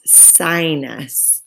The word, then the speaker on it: sinus: Sinus, when we break up the syllables, that I is the end of one syllable, and then nus is the second one, sinus.